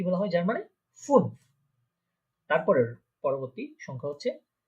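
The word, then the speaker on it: fünf: তারপরে হচ্ছে ফুন, ফুন, খেয়াল করেন এখানে একটা উমলাউট আছে। আমরা ফার্স্ট ক্লাসে দেখেছিলাম যে উমলাউট থাকলে ঠোঁটটা একদম গোল হয়ে যাবে সম্পূর্ণ।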